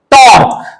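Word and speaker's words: tau: इसकी इसको थीटा से डिनोट करते हैं नंबर टू एंगुलर वेलोसिटी इसको ओमेगा से डिनोट करते हैं थर्ड एंगुलर एक्सीलरेशन इसको डिनोट करते हैं अल्फ इसके अलावा जो नई चीज आप पढ़ेंगे यहां पर वो पढ़ेंगे आप टक टी आर कय इसको ट इसको य सिंबल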